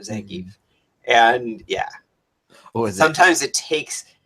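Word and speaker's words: Zangief: Z like right and it wasn't until Wreck-It Ralph yep when zangie said his own name that it was like established that is the pronunciation of zangie and yeah sometimes it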